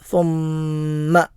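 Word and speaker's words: ثُمَّ: സുമ്മ എന്നത് മീമിന് ഷദ് വന്നിട്ടുള്ള അക്ഷരമാണ്. മീമിന് ഷദ് വന്നാലും നൂനിന് ഷദ് വന്നാലും അത് മണിച്ച് ഓതണം എന്നുള്ളതാണ് നിയമം. സുമ്മ എന്നാണ് ഓതുന്നത്. സുമ്മ എന്ന് മാത്രം ഓതരുത്.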